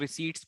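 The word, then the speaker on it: receipt: पूरी पूछ रहा तो उसको शॉक रिसीप्ट बोलते हैं बहुत से लोग रेसिपीज बोलते हैं बट करेक्ट प्रनंसीएशन आफ कि ऋषि को हैप्पी साइलेंट होता है ठीक है तो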